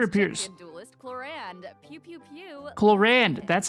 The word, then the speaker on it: Clorinde: Clorinde. That's how she pronounces it.